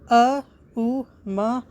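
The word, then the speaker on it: AUM: write it as so the first syllabus is a or a second syllabus is U or U and third syllabus is ma or ma finally after these three syllables a u and Ma the half syllable is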